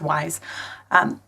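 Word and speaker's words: Wwise: Looks like Wise, but it's just pronounced Wise.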